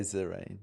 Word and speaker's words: Zareen: And I say, "Well, you it sounds just like Serene." Yeah. Has none of the connotations. It's a nice name. Sirene. Yeah. Yeah. Yeah. Okay. Zarene, it was lovely chatting with you, darling.